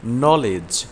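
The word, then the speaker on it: knowledge: হিংসা অনিচ্ছুক হওয়া ক্যাজ ক্যাজ অর্থ ভিক্ষা করা নলেজ নলেজ অর্থ জ্ঞান বাজেট বাজেট অর্থ বাজেট রিজ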